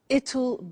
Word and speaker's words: it'll: I said tomorrow it'll be cold. You notice how it will becomes it'll.